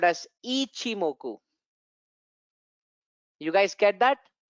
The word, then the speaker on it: Ichimoku: You know, the pronunciation is always Fibonacci. So similarly, it's not Ikimoku or Ichimoku. It is officially called as Ichimoku.